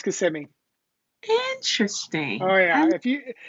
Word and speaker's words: Kissimmee: it is floridians but people say kissing me but it's kissimmee interesting oh yeah if